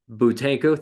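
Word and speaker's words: Buteyko: And I forgot how to pronounce this word. Butenko. Nope. Butenko, thank you.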